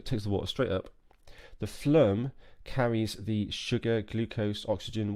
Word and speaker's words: phloem: the xylem or the phloem I really hope that's an acceptable pronunciation phloem flume phloem I will check with